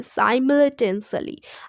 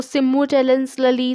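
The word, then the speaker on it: simultaneously: News bulletin is broadcast देखिए सिमुलटेनियसली, अब इसको प्रोनाउंस करना आना चाहिए, साइमल्टेनियसली। आप कैसे प्रोनाउंस करोगे इसको? सिमुलटेनियसली, साइमल्टेनियसली, सिमुलटेनियसली, बहुत ज़्यादा कंफ्यूजन होता है।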